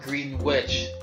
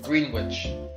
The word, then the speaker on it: Greenwich: Another piece of characterization I really liked was Green Witch, which after he actually shows up and is furious that his name was not Green Witch, but Greenwich, and it was just a mispronunciation of Sterling that caught me by surprise.